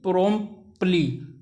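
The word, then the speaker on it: promptly: ही प्रोम्पली, T silent हो जाता है इसमें, ठीक है ना, इसलिए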